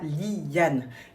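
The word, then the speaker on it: Lyane: Mais voilà, je vous avais dit Yan donc on le prononce comme ça Li Yane comme Alia.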